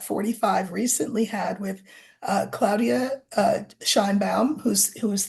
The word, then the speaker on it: Claudia: uh shanam says and I'm saying Claudia it it's um I'm pronouncing it in the way that you would if you were Spanish speaking we would say Claudia here but it's Claudia Claudia Shin bam said said